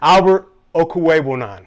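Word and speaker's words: Albert Okwuegbunam: let me see if i can do it albert okuwei that's that's the pronunciation alberto uh they did draft a tight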